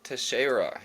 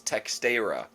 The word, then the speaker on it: Teixeira: His last name isn't actually pronounced Terra. It's It's got a weird phonetics for Talison specifically. It's Texter.